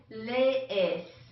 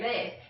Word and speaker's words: lees: Okay, yo leo, tú lees. Hay que practicar esta pronunciación. Lees. There's two E's in there, lees.